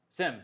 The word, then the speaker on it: SIEM: SIM, or however we, I don't think we've decided how to say that word. How do you say it, Sean? SIM. SIM. That's canonical now.